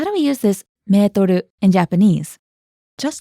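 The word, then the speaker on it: メートル: The word meter is originally French, which is why the Japanese pronunciation doesn't sound like the English word meter. Natsuko, how do we use this metoru in Japanese?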